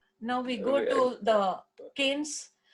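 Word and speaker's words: Cairns: we go to the canes where r is silent in that word and it's far up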